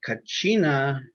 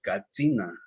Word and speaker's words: katsina: different pronunciations well uh kachina is the more the english way of saying katsina so they had to make it easier for them to pronounce and say it these days we say